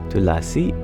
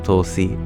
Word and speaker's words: Tulsi: Tulasi is the same as Tulsi. In Hindi, they often don't pronounce all of the syllables, just contract some of the consonants together.